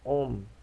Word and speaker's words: ohm: Aqui tem 1 ohm. A gente fala de ohm. Se escreve OHM, que é o nome do carinha que criou a lei para entender isso tudo aqui.